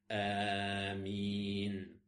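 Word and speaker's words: آمين: Donc lorsque l'imam dit Amin, tu dis Amin en même temps que lui en prolongeant bien la prononciation de ce mot, en disant Amin.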